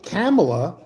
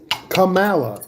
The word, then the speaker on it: Kamala: If you spell your name with a K-A, what does that sound? Cat. If you want to say Kamala, you spell it with a C. Right? Kamala. Oh, ka. Right. K-A is ka.